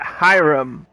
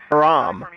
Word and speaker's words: Hiram: being a dumbass alternative she pronounces it hiram i think i pronounced it haram okay broker how do